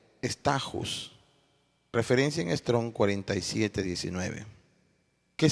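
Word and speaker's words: στάχυς: La segunda etapa es la etapa de la espiga, que en griego se pronuncia stachus, referencia en Strong 47:19. ¿Qué significa estajus?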